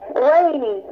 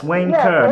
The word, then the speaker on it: Wayne Kerr: What? Rainy. No, Mr. Wayne, but my last name is Kerr. It's Wayne Kerr. Wayne. Wayne. Wayne. Yes. Not Wayne-y, okay, just so Wayne.